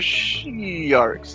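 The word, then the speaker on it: Shi'arcs: We're not sharks, we're she-arks.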